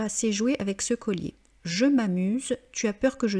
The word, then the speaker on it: je m'amuse: la lettre A, donc on ne dit pas je me amuse, on dit je m'amuse. Et comme dit dans la vidéo sur l'élision, vous devez bien prononcer je m'amuse.